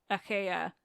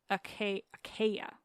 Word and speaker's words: Achaea: And finally, it comes in handy that I no longer seem to be able to pronounce Achaea with my regular accent. Achaea. Anyway, Achaea sounds a lot more like Achiawa.